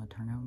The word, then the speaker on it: Letourneau: That's how you say her name, Letourneau.